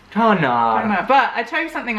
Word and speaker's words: tanár: But the hardest thing is, like, we know that an A with a dash is a long sound. But a hard thing in Hungarian is that you stress the first syllable. Tanár.